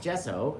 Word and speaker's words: gesso: And it's spelled with a G, by the way. G SSO instead of a J. It sounds like a J. I agree. I agree. But it's a G.